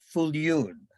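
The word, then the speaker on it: Viljoen: Save the date for an afternoon with our CSL spiritual leader, Reverend Edward Fuljoen. I am told that is the correct Dutch pronunciation.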